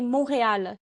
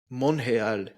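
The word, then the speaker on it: Montréal: go ahead go ahead in French they say monreal monreal okay about here they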